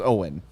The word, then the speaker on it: Owyn: who the hell is owen well it's uh it's not own power it is not uh it's not owen hart skype point it is spelled o-w-y-n standing for only what